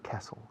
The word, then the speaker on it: castle: La T es muda, se dice castle, castle, castle.